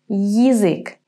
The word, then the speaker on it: язык: In the third word, язык, we're going to say Y and then I. Язык. The beginning sounds a little bit similar to the English word yield. Yield, язык.